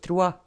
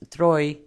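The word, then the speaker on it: Troyes: of the free passage the french city of trua often wrongly pronounced troy lost their prominent position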